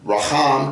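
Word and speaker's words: רַחַם: Interesting that the word Racham, and they're spelled the same. Raham, compassion, mercy, and the word Rachem, womb, spelled the same, just pronounced different.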